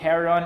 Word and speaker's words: Heron: we just got confirmation and how to actually pronounce the product name you can go to hair on athletics either on their website which is triple